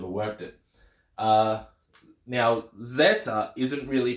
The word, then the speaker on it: Zeta: the letter which is Zeta oh whoops Zeta Zeta so it has that z z sound just the Zed sound not the D sound but the Zed sound